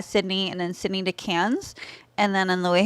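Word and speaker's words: Cairns: Brisbane and then cats it's squir though CU it's spelled k a i r NS but it's cans they're like we're just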